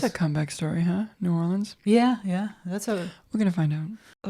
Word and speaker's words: New Orleans: It's going to be in New Orleans. That's what I know. Nolans to people who are from there. You said every syllable that time. New Orleans. Down there in New Orleans. Yeah, it'll be in New Orleans.